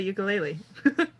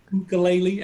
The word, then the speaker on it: ukulele: Yeah, yeah, that's kind of like how I play ukulele. Yeah, exactly. You know, it's Uh, pronounced ukulele, actually.